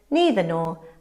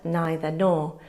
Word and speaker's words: neither: They can be pronounced either or either or, and likewise neither nor and neither nor. You choose, but you'll hear both in everyday English.